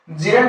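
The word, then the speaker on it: gerund: बात करूं तो कौन से क्या है ये जरंड है क्या ये नहीं इसको क्या प्रोनाउंस करेंगे जेरंड क्या करेंगे जेरंड ठीक है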